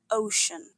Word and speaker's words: ocean: Watch out for that soft sh sound and the silent a in the spelling. Ocean.